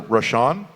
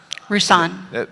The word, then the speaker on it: Rousan: The keynote speaker was uh Senator Rashan. Is that how you say his name? Rousan. People are yelling back at me, but I can't hear them. Rousan. Rousan. Senator Rousan who was a crackhead from way back.